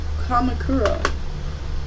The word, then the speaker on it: Kamakura: Oh, Kamakura. That's actually kind of a cool name. So he attended schools in Kamakura.